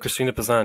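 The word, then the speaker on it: Christine de Pizan: you have one medieval feminist you just have Christine De pazan is that how you say it Christine pazan yes uh what what who was she and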